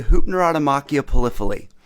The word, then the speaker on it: Hypnerotomachia Poliphili: All right, pronounce it for us. Sure. It's the Hypnerotomachia Poliphili, which means the strife of love in a dream of he who loves many things.